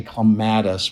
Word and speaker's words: clematis: I tell them that Americans tend to say clematis which rhymes with lattice but since I worked